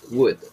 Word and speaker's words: would: sad that her birthday l is not pronounced would okay would be okay